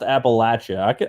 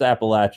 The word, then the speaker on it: Appalachia: that you know appalachia it's pronounced appalachia i can say that it's not you know it's not any other word it's appalachia that's where we're from i